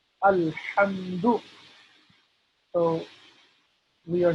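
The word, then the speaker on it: الحمد: Alhamdu, that is incorrect. That is not the correct pronunciation of this. So it's Alhamdu with a Ha, Ha, Ha.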